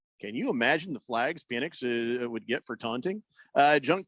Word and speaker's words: Penix: Prison Wallet says, can you imagine the flags Penix would get for taunting? Junk Food Jake says, Texas is big on guns and hard on Penix. It's Penix, Wow, right?